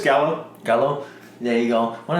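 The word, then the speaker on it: Galo: one of the things that he tells, especially like our main protagonist, Galleon. I hope I pronounced his name right. Yeah, it's just Gallo.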